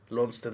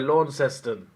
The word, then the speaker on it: Launceston: Sorry, Launceston. Sorry. 4 syllables? That's 3, mate. Sorry, look, Launceston is more of a English pronunciation. Like if that place was in England, it would be called Launceston.